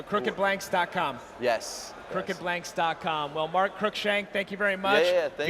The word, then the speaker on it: Cruickshank: my last name is crookshank it's pronounced like crooked or crook shank so yeah i kind